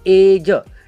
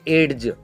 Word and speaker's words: edge: यहाँ पे एज, नहीं तो कोई कोई बोलेंगे एड्ज, एड्ज, एड्ज नहीं बोलना है, क्योंकि जी के पहले डी आया है, जी के पहले कौन आया है, डी, जिसका हमें बिल्कुल ही प्रोनाउंस करना नहीं है, इसलिए यहाँ पे हम एज बोलेंगे, सीधा सीधा एज।